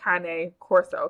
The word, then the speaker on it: Cane Corso: That's the proper way to say it, Cane Corso, because it's Oh. Italian. Um, Mhm. but the American way is Cane, right?